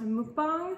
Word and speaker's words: mukbang: we are doing a mukbang i just found out today it's actually pronounced mukbang so we're doing a